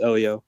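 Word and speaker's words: Heliot: is that the same is that the same Elliot Ramos that's like currently on their roster yes that's Helio Ramos it's pronounced Elio ah oh it's Elio oh see they is silent shows what right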